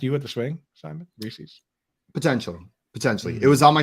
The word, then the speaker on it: Reese's: Reese's? Is that what you guys say? Like it rhymes with pieces.